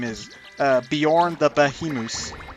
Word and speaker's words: Beorn: bees in Beorn's house there was a guy that wasn't Bjorn no Bjorn Bjorn Bjorn was more how it's pronounced he's the bear guy